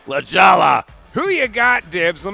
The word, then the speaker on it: La Jolla: Now, this is in Torrey Pines, which is what, La Jolla, California?